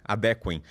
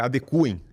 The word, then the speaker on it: adequem: que ele se adequem adequem mas a pronúncia correta é adecue é igual a de recuem a pessoa que me escreveu